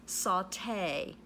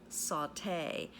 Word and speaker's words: sauté: s a ute and there's an accent on the e there it's a French word okay sauté means to